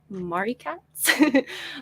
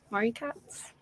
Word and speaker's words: Marikatz: cats and then i'm on twitch as mari katz um a lot of people call me mari as well that's just kind of become a thing also tick tock marie cats pronouncing your name wrong in my head the